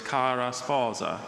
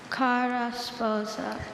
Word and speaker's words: cara sposa: Just so anyone doesn't wonder, Dr. Bailey wasn't exaggerating that pronunciation. That's what the dictionary says to do with that word. Others are more English sounding, but with that word in the dictionary, that's how you're supposed to say it.